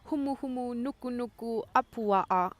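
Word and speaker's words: humuhumunukunukuāpuaʻa: It's the state fish of Hawaii, the reef triggerfish, and it is pronounced as humu humu nuku nuku apua'a.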